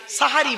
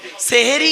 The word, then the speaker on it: সাহারি: দিলে সাহারুন মানে হলো রাতের শেষ অংশের খাবারকে আরবিতে সাহারি বলে তাহলে শব্দটা কি হবে সেহরি না সাহারি জোরে বলুন তাহলে জলসা